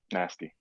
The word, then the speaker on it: Nazty: Nasty. Nasty. Spell it. Spell it. Nazty. Nazty, Nazty. like my man Nas, nasty.